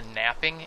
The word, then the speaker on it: knapping: here bring up here they call it the napping interface but they spell it with a k of like how i